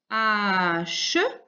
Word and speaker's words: hache: Donc, on avait une hache. Et là, on avait le H muet.